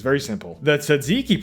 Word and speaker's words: tzatziki: The tzatziki pronunciation is fighting for its life.